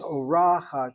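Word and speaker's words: אורחת: The word is orachat, orachat. The accent is over that patach, short vowel, open syllable.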